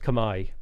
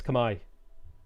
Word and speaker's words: Khmer: is that how khmer is pronounced yes it's pronounced kamai at least that's what i was told by people in my chat um multiple multiple multiple multiple times is that it's kamai stream needs more rabbit she's fine she's just